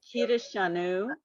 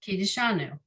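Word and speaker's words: קידושנו: So that's where the shva is not really pronounced. You just run over it. Yep, exactly. So Kiddushanu. Perfect. Kiddushanu.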